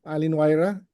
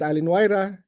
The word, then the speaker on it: Allin-Wayra: Allin-Wayra. It's a Small Sensors Atmospheric Science webinar series. Allin-Wayra is an IGAC activity focused on small sensors. So the word Allin-Wayra means good air or winds of change in Quechua.